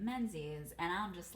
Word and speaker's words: Menzies: with the last name Menzies fun fact Menzies is the anglicized pronunciation of Mingus which is actually a very common a Scottish surname does that mean that